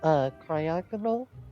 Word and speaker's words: Cryogonal: Well, that's pretty much what cryogonal.